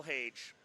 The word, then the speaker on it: Hage: Michael Hage. I asked him how to pronounce his name. Age with an H.